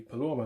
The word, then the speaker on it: paloma: to look at is the paloma knot or polymer knot depending on where you're in the country and how you choose to pronounce it now i find that